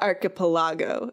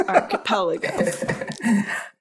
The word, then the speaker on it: archipelago: hearing anyone say it so it's not archipelago it's archipelago um but all jokes